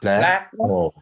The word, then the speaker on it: blackboard: When a noun is comprised of two words, the first syllable is stressed. Like. Yes. Blackbird. Yeah. Blackboard.